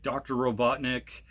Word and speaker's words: Robotnik: little dark, where Sonic's dad got captured by Dr. Robotnik. No, not fucking Eggman. I'm not calling him Eggman.